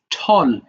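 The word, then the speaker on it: tall: গেল এরপর ঠল আছে এটা অনেকে টেল বলে ফেলতে পারো এটা উচ্চারণটা হবে ঠল তাহলে দেখো এই টলটা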